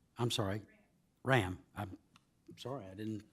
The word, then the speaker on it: Rahm: Carolyn Rahm. I'm sorry. Ram. I'm sorry, I didn't pronounce it correctly. I meant to say Rahm, but if it's Ram, I'm corrected.